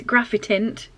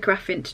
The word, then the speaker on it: Graphitint: let me just say i definitely pronounced graphitint twice wrong so i do know what that word is graphitint i said graphint twice sars but yeah just